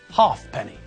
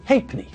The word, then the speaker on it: halfpenny: those two letters and pronounce the word as if they weren't there even if you see